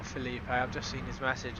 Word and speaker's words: Felipe: Oh, it's not Felipe. I've just seen his message. It's pronounced Philip. It's just written Felipe in Portuguese, I think he said.